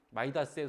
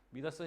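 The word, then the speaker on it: Midas: 때 심판을 받던 사람의 마이다스의 손이라고 하잖아요. 왜 영어식으로 발음해서 손으로 맞이 모든 황금이 되는 그 미다스 심판을 받는데 마르시아스가 잘했다고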